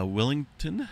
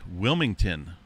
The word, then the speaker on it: Wilmington: tornado activity that includes portions of willing uh Willington looks like Wilmington got to pronounce that correctly there that's over here across